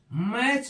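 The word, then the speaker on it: match: क्या होता है सेलेट एम एटी सीच मैच पढ़ते हैं टी क्या होता है यहां पे साइलेंट होता है ऐसे ही बी एटी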